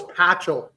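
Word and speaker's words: Pachal: any chance super what no it's patchel suppose you didn't have him in there who oh is that how you say it yeah Jesus [ __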